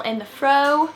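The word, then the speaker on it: In The Frow: my name is this is my channel in the fro that's how you pronounce it by the way you know what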